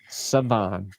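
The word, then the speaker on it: Shavon: Siobhan or Saban? Savon.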